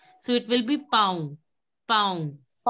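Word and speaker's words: pont: So it will be pound. Pound. You don't have to pronounce the last N. It has to be the nasal sound.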